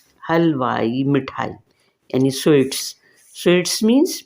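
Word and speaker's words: حلوائی: बना दी गई है यह ई की आवाज इससे निकलती है हलवाई हलवाई मिठाई यानी स्वीट्स स्वीट्स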